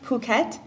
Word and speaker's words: Phuket: Sure, it's pronounced Phuket.